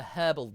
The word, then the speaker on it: herbal: yeah no milk and herbal tea exactly or as the as the Brits say it the herbal tea you you only add